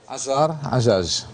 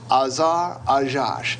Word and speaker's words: Azar Ajaj: Azar, how do you pronounce his last name? Azar Ajaj. Azar Ajaj.